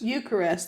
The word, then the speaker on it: Eucharist: where a child receives the eist eist Eucharist Eucharist that's how you say it or Holy Communion